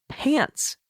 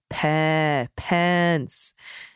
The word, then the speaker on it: Pence: I had discovered that kiddo thought that then vice president's last name was Pants, Mike Pants. So I very carefully worked with him. No, Pence. By the end of the conversation, my child had carefully updated his pronunciation, diligently switched to that short E, but now is calling him Mike Pencil.